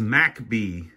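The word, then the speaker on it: McBee: here and I think he says macb that's how locals pronounce MC be MCB macb which is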